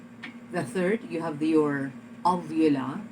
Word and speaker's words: uvula: third you have your ovula sometimes it is spelled u v u l a so when it is l spelled u v u l a then you have to call it uvula the last one is